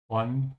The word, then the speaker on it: von: Bist du ein Freund von Jesse? Are you a friend of Jesse's? Notice how in German you say von, yeah, instead of off. So it's like saying from. And the B is pronounced like an F if you're a beginner,